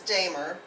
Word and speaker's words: Damer: A lot of people mispronounce it, but it is Damer.